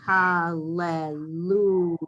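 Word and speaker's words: הַלְלוּיָהּ: It's 2 lameds in a row. But anytime you have 2 consonants in a row, like ro, mem, mu, you have 2 consonants in a row, you're going to pronounce the shva under the first consonant. Okay. Sound shva under first consonant. Right? So hallelujah. That's when you sound the shva under the first letter.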